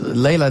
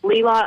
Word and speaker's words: Leila: the last 10 minutes Leila did I pronounce that correctly are you there yes my name is actually pronounced Leela I'm from Brandon I